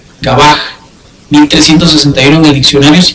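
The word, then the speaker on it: גבה: Es la palabra en hebreo, o sea que sería H 1361 y se pronuncia Gabaj, es altivez. Gabaj 1361 en el diccionario si quieren buscar el significado.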